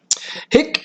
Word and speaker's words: hic: of why they're tired hick best or coos pic with a short I means he this this this hick with a short I this heat with a long I here so this is the